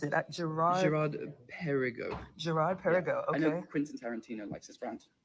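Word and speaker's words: Girard-Perregaux: But How do you pronounce it? Gerard. Gerard Perigo.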